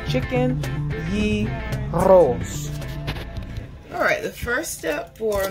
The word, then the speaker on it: gyros: Hi guys, today we're making chicken gyros. I'm not pronouncing it right, you have to roll the R. Chicken gyros.